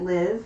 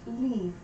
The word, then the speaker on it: Liv: you might pronounce it liv that's fine but in danish it's the word that means life and it's pronounced leaf so the theme of